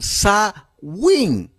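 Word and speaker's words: Samhain: Jaén o so wein ambos se pronuncian zawin o Summers o como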